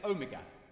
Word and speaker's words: Omega: Next one is omega. And I think of the English word door.